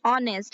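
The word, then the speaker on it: honest: अगर आपको कहना है कि वह ईमानदार है, सो यू कैन से ही इज ऑनेस्ट। यहाँ पर ध्यान में रखिएगा एच यहाँ पर साइलेंट हो जाता है।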